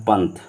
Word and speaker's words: पंथ: जैसे मान लीजिए लिखा है पंथ, क्या लिखा है, पंथ, तो इसका जब करेंगे तो प, न, थ होगा, क्या होगा, पंथ होगा।